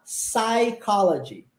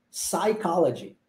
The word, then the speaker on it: psychology: escreve escreve-se em psicologia escreve-se com P mudo só que nós não pronunciamos o p a gente fala psychology psychology Ok ah e em